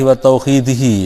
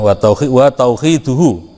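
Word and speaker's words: وتوحيده: Yang pertama, al-imanu billahi wa tauhidihi, ini, ya, wa tauhiduhu. Saya ulangi lagi cara bacanya, jangan sampai keliru. Al-imanu billahi wa tauhiduhu, yaitu iman kepada Allah, al-imanu iman billahi kepada Allah, wa tauhiduhu, dan mengesakannya.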